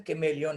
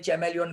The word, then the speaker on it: chameleon: इसका pronunciation कैमेलियन है. कई लोग चैमेलियन भी बोलते हैं, चैमेलियन गलत है.